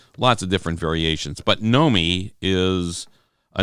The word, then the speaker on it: Nomi: But Nomi, if you listen, you'll say it slowly. Nomi. How can you say it slowly? There's two syllables. 2 syllables. Nomi, or know me, M-E, like know me.